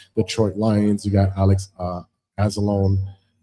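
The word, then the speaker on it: Anzalone: And as far as for the inactives for the Detroit Lions, you got Alex Azzalone. Azzalone, my bad.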